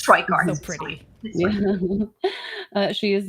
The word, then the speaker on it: Tricart: Her last name is French, so I can't pronounce it, but it's you can pronounce it. Tricart, but you can say it's Tricart.